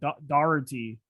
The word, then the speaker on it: Doherty: appreciate your time uh your pronunciation of doherty was brilliant i mean that is you know oh i got it i think you've got to bang on there because people try that's certainly how it's pronounced in ireland for sure and it's an irish guess i hit